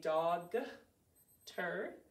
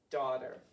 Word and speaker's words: daughter: So to spell this word, we say dog-ter. When we're speaking, what do we say? Right, daughter.